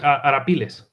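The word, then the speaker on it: Arapiles: spanish frigate ironclad frigate era pills i think is how you pronounce it pardon yeah yeah correct arapillas hatterpilas was in the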